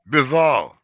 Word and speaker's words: Bivol: Uh, how Bivol, you pronounce his name? Bivol, Yeah, yeah.